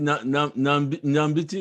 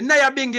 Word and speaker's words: Nyabingi: Is it Nambiti? Is it? Huh? Nambiti, is it? How do you say it? The Nyabingi other.